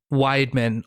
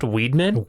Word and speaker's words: Weidman: uh w d m an which could be widman or Weedman depending on which how which depending on your pronunciation and either one felt right so I